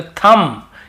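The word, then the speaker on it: thumb: यहां पर भी बी को नहीं पढ़ना है तो थंब।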